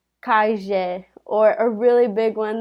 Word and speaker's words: calle: it's a double l so like for example calle they would pronounce Kashia or a really big